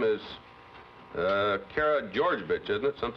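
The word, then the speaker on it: Karageorgevich: is your preference your last name is uh Cara georgevich isn't it some like that that's right very difficult to pronounce yes it is is that the way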